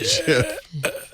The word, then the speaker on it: GIF: It's still pronounced Jif. You jackass. Jif, like the peanut butter.